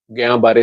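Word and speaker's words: Guillain-Barré: को, बड़े को हो जाए, तो उसे हम गयां बारे सिंड्रोम या जीबी सिंड्रोम बोलते हैं। नाम उसका मुश्किल सा है, स्पेलिंग जी, उसके इससे भी मुश्किल है, GULL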